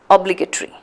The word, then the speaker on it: obligatory: So it's ta, a, and then re, the 2 syllables. So T-O-R-Y is again separated into 2. It's actually a 5-syllable word.